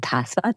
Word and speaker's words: Dhasa: it's called Dharamsala, but we call it short Dhasa to rhyme with Lhasa, the original capital of Tibet.